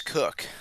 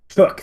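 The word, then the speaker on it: Cooke: I've heard it pronounced as Cook. Cook. Thank you. Okay. So we got All right. So we got Philip S Philip St. George Cook, who is mostly famous for being the only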